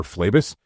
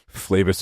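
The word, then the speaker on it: Phlebas: So, if you're going to start with that, the first book is called Consider Flavus. Flavus is spelled P H L E B- A S.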